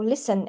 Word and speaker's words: listen: Okay, so we can see that is silent in this word listen and often. However, it is not silent in this word fast and after.